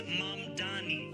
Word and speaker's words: Mamdani: And furthermore, the name is Mamdani.